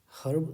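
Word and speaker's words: herb: यही हो जाएगा और अमेरिकन इंग्लिश की अगर बात करें तो ए साइलेंट होता है अमेरिकन इंग्लिश में हम भारत में पढ़ रहे हैं भारत की बात कर रहे हैं भारत ब्रिटिश इंग्लिश को फॉलो करता है इसलिए य क्या होगा हर्ब समझकर ए लगाएंगे इसलिए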